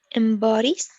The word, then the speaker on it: embodies: Embodies. Good, good. And you can mix that O a little bit between O and L, like embodies, embodies.